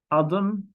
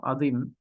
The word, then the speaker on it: Adım: So it's adım, not adim, but maybe we will try to represent it here.